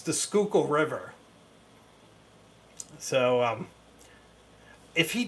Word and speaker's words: Schuylkill: um but I can assure you it's the Schuylkill River so um if he does a pen